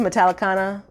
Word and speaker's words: Metallicana: Yeah, so they're coming to Metallicana, like Metallica.